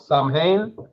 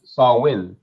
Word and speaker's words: Samhain: to the ancient cel Festival of Sam pronounced sawin right so so what you